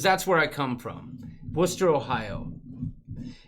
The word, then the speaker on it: Worcester: Because that's where I come from, Worcester, Ohio. And everyone pronounced John Worcester as Wooster.